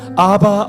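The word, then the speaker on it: אבא: 부르는 것입니까 아빠 아버지 아바 아버지라고 한다 합니다 실제로이 어 저 뭡니까 헬로에 있는이 아빠라는 말은 우리나라 말과 같은 발음입니다 아바 ABBA 아바라 하는데 우리와 똑같은 발이죠 아빠라 합니다 하나님은 아버지시요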